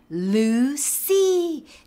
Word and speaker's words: Lucy: ルーシーでこういう風に発音してみましょう。